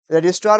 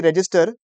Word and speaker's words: registrar: तो it will preferably रजिस्टर with the रजिस्ट्रार, देखिएगा spelling देखिएगा, REGISTRAR, इट इज नॉट रजिस्टर, इट is what, रजिस्ट्रार of firms.